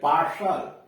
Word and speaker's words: partial: IO हो, ION इत्यादि हो तो टी का उच्चारण श, बड़ा वाला श होता है। जैसे PARTIAL पार्सल, PARTIAL पार्सल, आंशिक।